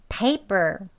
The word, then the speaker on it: paper: person 그 다음엔 pay가 강세가 있으니까 뒤에는 per 할 때 약하게 예, 저희 아까 했지요. 하는 게 아니고 약하게 낮게 짧게 발음하시면 되겠습니다.